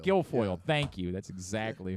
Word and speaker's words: Guilfoyle: Can't pronounce her last Kimberly name. Guilfoyle. Guilfoyle.